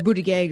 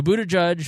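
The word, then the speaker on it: Buttigieg: All right, that's sort of Buddha Judge or Buddha Gag or it has evolved here in Indiana. And that's another thing that nobody can figure out because he says it differently uh now versus a few years ago. So Buddha Judge, which is what I'm going to go with until I'm corrected.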